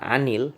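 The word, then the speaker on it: عن: Di situ terlihat an itu diakhiri dengan sukun, tetapi kita baca dengan anil. Mengapa? Karena kata setelah an, huruf an itu diawali dengan alif lam, sehingga bila kita ingin langsung membacanya maka kita ganti harokat sukun tersebut dengan harokat kasroh atau garis bawah, yang menjadi anil madrasati anil baiti.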